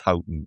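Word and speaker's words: Houghton: Jill Scott and Steph I call her Steph Holton. I can't I can't pronounce it as Hton even though everybody else does and that's perhaps even how the family pronounce it.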